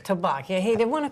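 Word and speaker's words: Tabac: Tabak. Tabak, yeah.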